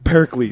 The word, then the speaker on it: Pericles: ] can't we get that name ah Pericles Pericles eros that's okay you said it right when